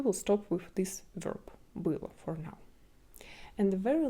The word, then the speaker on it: было: But because of an accent, we will pronounce it like la. Это было.